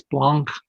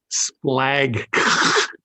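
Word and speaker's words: σπλάγχνα: uh an alpha gamma kai so you would pronounce this as splunk as opposed to splag just doesn't work so it's splunk now uh dictionary word for me did you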